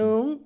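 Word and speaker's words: หนึ่ง: Nung. Nung. See, I was Nung. close. They're close. Nom is like Okay, nom so mistakenly nung, nung sang som num sam song num song sam in. Nung, song, sam, nung, si, ha, hok, jet, pet,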